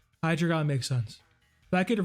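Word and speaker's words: Hydreigon: The dre is pronounced like the number three in German. Hydragon. Hydrogon makes sense.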